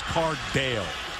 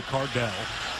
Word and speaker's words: Cardale: catch by Samuel and it is cardale a lot of people say Cardell he actually goes by the shorten name Dale so didn't mispronounce